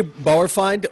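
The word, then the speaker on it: Bauerfeind: um i don't know if i'm going to pronounce his last name correctly but charlie bar borified yes charlie bowerfind you know very well-known producer in the world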